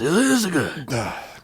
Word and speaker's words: Yasuke: I think that's how it's pronounced. It's pronounced Yasuke.